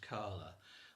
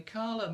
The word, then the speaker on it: Kala: would be spelled Kala, so just Kala, but it's a long A at the end.